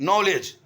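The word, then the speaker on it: knowledge: नहीं गया आगे है नॉलेज के एन ओ डब्लू एल ई डी जी ई नॉलेज इसके अंदर के लिखा गया और डी लिखा गया लेकिन दोनों साइलेंट है लिखने में हम लिख रहे हैं लेकिन पढ़ने में उसको हम पढ़ नहीं रहे हैं तो जैसा लिखा गया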